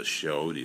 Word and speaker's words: chayote: Merleton, which is the chayote squash. Chayote, I believe is how it's pronounced.